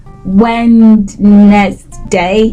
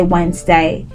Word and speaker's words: Wednesday: next time you see don't say when next day just say Wednesday it's cooler that way and it's the correct pronunciation so thank you so